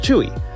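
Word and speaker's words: Tzuyu: looks like it's pronounced suyu believe me I've made that mistake myself as well but it turns out it's actually pronounced chewy so she was born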